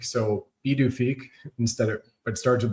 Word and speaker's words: Pituffik: So they're calling it Pituffik Space Base pronounced B D Fik. So B D Fik instead of It starts with a P, but that's And Thule and Thule Thule, yeah.